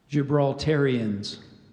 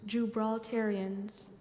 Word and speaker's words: Gibraltarians: Iberian geographical name plus an English combining form gibraltarians jubilitarians are there any alternate pronunciations there's one so I gave you the